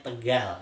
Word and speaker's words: Tegal: Ya, disebut sini pakai qaf, ya, tekol, bukan tekol, bacanya Tegal, ya.